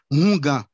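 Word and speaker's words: houngan: Par exemple pour gagne un mot en court et ungan, en tout cas Léogane, il prononce Ongan avec un H aspiré, Hungan. Il pas dit Ongan ta Port-au-Prince, il dit Hungan.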